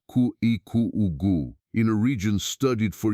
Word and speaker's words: Kuhikugu: Brazil, and you reach a place called Kuhikugu, pronounced Ku Eu, in a region studied for years by the